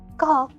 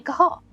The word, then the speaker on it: Kahal: You say his name was Kahal. Call. That's a multis selector. Uh about say if his name is Call, does that make his first name Al? No. First name Kahal.